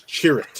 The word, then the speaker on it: Chirrut: The answer is the Guardians of the Wills, but I got to correct your pronunciation. It's Chirrut.